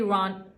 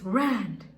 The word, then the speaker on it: Rand: second episode was definitely Ron. It's Rand. It's Rand. I think it's the fact that you pronounce ranch as ranch that makes me pronounce Rand as Rand.